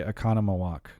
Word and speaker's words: Oconomowoc: Oconomowoc, Wisconsin. That's right. Okay, because I think I tried to say Oconomowoc, and You struggled actually with it. did pronounce it correct the first time.